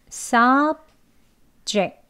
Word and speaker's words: subject: 명사와 형용사의 강세는 똑같아요. 앞에 이름절에 있습니다. subject. 예, subject. 그리고 동사로 쓰일 때는 강세가 이음절에 있어요. 앞에를 힘 빼시고 약한 이 슈아 발음으로 해요. 입술만 떼시고 으 소리가 들어간 어 발음으로 약하게 합니다. 그래서 subject 예, sub 하고 약하게 짧게 해주시고요. ject를 강하게 높게 길게 발음을 해주시면 돼요.